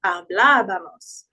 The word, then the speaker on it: hablábamos: When we put an accent in Spanish, it's usually to preserve the sound. So instead of saying hablábamos, it's trying to emphasize hablábamos.